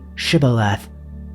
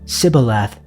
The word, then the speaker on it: Shibboleth: If he said, "No," then they would say to him, "Just say Shibboleth." But he said Sibboleth, for he was not prepared to pronounce it correctly.